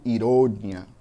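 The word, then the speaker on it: ironía: No espanhol eu digo ironia, com a sílaba mais forte lá no final.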